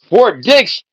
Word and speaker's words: Fort Dix: Fort Dicks is a prison where Diddy wants to go. What a coincidence. But it's spelled D I X. Fort Dicks.